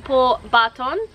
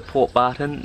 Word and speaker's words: Port Barton: today we are in poor Barton Barton or poor pronounce it that way for you guys because when we asked to go to port barton no one knew what we were talking about so when you ask